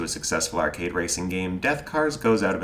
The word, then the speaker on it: DethKarz: the aptly named death cars spelt with a k and missing the a is a futuristic combat